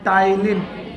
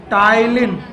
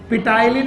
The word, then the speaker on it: टाइलिन: इसके अलावा एक एंजाइम है, नाम है टाइलिन। टाइलिन, पिटाइलिन नहीं, पी को साइलेंट करना है, टाइलिन पढ़ना। इट is known as salivary amylase, salivary amylase.